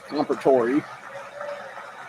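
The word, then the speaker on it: Comperatore: who gave his life That's how you to pronounce that protect guy's his name. family. So it's Compertori.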